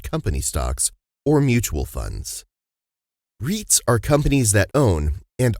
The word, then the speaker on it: REIT: buy real estate investment trusts reits what is a reit reit rhymes with sweet stands for real estate